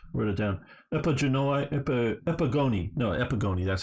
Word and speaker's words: Epigoni: the Diadochi and the Epigenoi, or however you say it, wrote it down, Epigoni, that's how you say it, which is the sons of these guys.